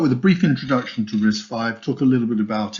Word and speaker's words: RISC-V: get started so risk 5 history so it's pronounced risk 5 not risk v um it's an open standard instruction set started